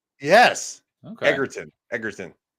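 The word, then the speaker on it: Egerton: Oh, it's it's a hard G, not a soft G. Yeah, it's as far as I understand it's a hard G. Oh, I thought it was Edertton, but it's Eggertton.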